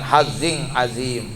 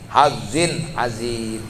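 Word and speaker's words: حظ عظيم: Nah, hazzin jangan hazzing azim ya, ketemu ain. Ain berarti termasuk huruf tajwid, hukumnya ijhar ya, maka dibaca harus hazzin azim ya, zin hazzin azim, ketemu ain.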